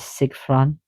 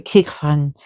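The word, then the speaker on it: cigfran: Also, the other name for raven is Sigfran. Sigfran. So, and Kig. So it's a Kig. Sig, sorry, Kigfran.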